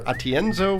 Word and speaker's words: Atienzo: Asher marketing podcast tonight Our Guest is Jennifer atienzo Fisher Jennifer did I pronounce that right you got it right thank